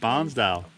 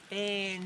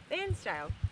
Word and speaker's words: Bairnsdale: their snags and meat from a butcher in Barnsdale. Bairnsdale. Oh, it's a weird way to say it, is it? How do you say it, Duh? Bairnsdale.